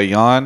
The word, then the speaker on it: Yeon: you by Alienware I'm joined right now by Yan who has told me that's how his name is pronounced there was a person in my twitch